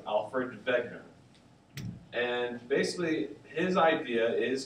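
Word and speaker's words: Wegener: very long time and in German the W is pronounced as a v so it's Alfred begner and basically his idea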